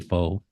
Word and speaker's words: Rengifo: is silence or an H sound, so you can Okay, say all right. Yeah. Renhefo. So Rengifo, here we go.